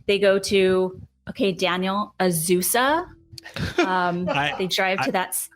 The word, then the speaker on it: Azusa: Someone commented on something that we posted explaining the proper way to say it is like an old bicycle, like Azusa.